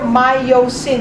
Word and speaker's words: myosin: thing is my myosin the way I try to remember my yo Sin is three syllables it's a thicker word actin is only two syllables it's a thin word so this actin and